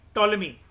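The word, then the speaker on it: Ptolemy: plea mention ट king टोलमी यह जो प है व साइलेंट होता है टोलमी टू फिलाडेल्फिया अस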